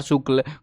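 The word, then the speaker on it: Shukla: राजकुमार शुक्ल है ये, लिखा ए है, ये पुराना जमाने का नाम है जिनमें ए साइलेंट रहता है, वो वाला काम है। तो ये राजकुमार शुक्ल है। शुक्ला बोल लो भैया, शुक्ला बोलना जिसको क्या फ़र्क पड़ता है।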